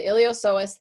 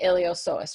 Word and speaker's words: iliopsoas: so here is the iliopsoas you don't pronounce the P okay so the iliopsoas then is going to